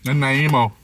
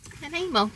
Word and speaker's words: Nanaimo: All the Americans gotten Nanaimo bars like last week and none of them could have pronounced it. Nanaimo. Nanaimo.